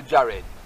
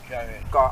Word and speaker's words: Yared: So in our English it would be Jared. Yared. Cause not Jared in Hebrew. No. But in our English that pronounced as Jared, J-A-R-E-D.